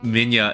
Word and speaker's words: Minilla: realize as an adult, they spell his name Minilli, and a lot of people pronounce it Minya, right? Or Manila, right? Yeah, right? But there's a part of my brain that thinks, were they trying to actually call him Minilla? Like Mini Godzilla? But then shortened into Minilla?